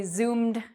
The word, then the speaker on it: zoomed: So if you wanted to say, yesterday I Zoomed my friends, because Zoom, the verb Zoom ends in an M or a M sound, ed is pronounced like a D, zoomed.